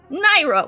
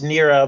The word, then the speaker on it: Nera: said not today so naira what's up my friend uh not much uh it's nera by the way but that's okay oh nera i am